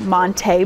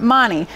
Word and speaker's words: Monte: And actually, one of the big storylines was Badger running back Monte Ball. He told people that Monte is the correct way to pronounce his name. It's not Monty.